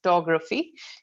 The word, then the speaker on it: photography: so in this one the stress is in the middle three letters so t o g taug photography so in case you say uh you pronounce it as photography so that's not the correct pronunciation and um the examiner